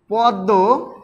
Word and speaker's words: পদ্ম: সেটা হচ্ছে দীত্ব তাহলে শব্দের মধ্যে শেষে ম ফলা যুক্ত হলে সংযুক্ত ব্যঞ্জনে দীপ্ত উচ্চারিত হয়ে থাকে যেমন আমরা উদাহরণ হিসেবে লিখতে পারি পদ্ম পদ্ম পদ্ম পদ্মর সাথে কিন্তু দর মন্ মর উচ্চারণটা কিন্তু করলে হবে না হয় না যেমন পদ্ম ছদ্দ রশ্মি এই যে আমি তিনটা শব্দ উচ্চারণ করলাম এই তিনটার কিন্তু একটার মধ্যেও ম টা উচ্চারিত হয় না কিন্তু সংযুক্ত ব্যঞ্জন বর্ণের